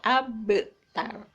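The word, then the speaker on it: أبتر: dalam kalimat abtar ya cara membacanya adalah dipantul dipantulkan karena Qalqalah itu artinya memantul jadi bacanya memantul abtar ya Nah itu jaluk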